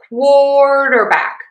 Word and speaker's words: quarterback: So we're going to have quarterback. quarterback. Primary stress is on quart. That means that syllable is louder, longer vowel, and higher in pitch. Least stress on the dur. And then back gets our secondary stress.